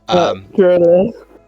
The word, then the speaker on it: Jarila: Jarila. Gavarel over what? Sorry. It kind of rhymes with gorilla, if that helps.